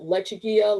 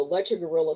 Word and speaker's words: Lechuguilla: gorillas because you know lechuguilla lechuguilla people didn't understand how to pronounce that who are not from the southwest and so you know that's where all the lecher guerrilla stuff kind of came from so